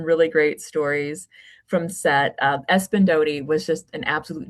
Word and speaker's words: Espyn: Um, I I wondered for you, working with working Is his name pronounced Espen? Is that how you Espen, yes. Espen.